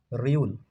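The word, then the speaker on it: 리을: থ ত চার নাম্বার চার নাম্বারটা হচ্ছে রিউল আপনারা পাবেন র আর ল পাঁচ পাঁচে পাবেন হচ্ছে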